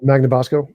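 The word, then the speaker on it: Magnabosco: even um Anthony um how do you say Banamaso uh Magnabasco Magnabaso sorry is there anybody that you enjoy their company to talk with?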